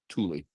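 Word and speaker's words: Tule: It's pronounced Tulie.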